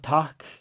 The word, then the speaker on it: takk: The double K is the same as a double T. So you pre-aspirate before 2 Ks in a row as well.